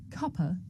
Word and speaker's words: cuppa: Now this is such a natural and common way to pronounce cup of that in British English the word cuppa actually means a cup of tea.